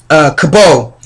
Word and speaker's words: Kobal: Cabal. Cabal is the demon of hilarity. A lot of comedians are being occupied, possessed, or oppressed by the demon Cabal. Cabal, you spell it Kobal.